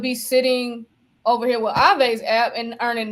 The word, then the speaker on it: Aave: Somebody in the chat was saying Ava. I was like, that's why I said Aave. Nah, you was right. Aave.